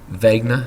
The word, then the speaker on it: Wegener: with a quick talk about the man Alfred Vagner uh it's spelled wer but it's pronounced Alfred Vagner he was a German man a German meteorologist